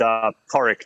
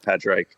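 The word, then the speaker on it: Pádraig: It's Porrick, just FYI, not Padraig.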